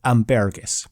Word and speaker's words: ambergris: 2-kilogram haul of now, I might mess up the pronunciation of this. I really should have checked, but ambergris. I'm gonna stick with that for the rest of this article.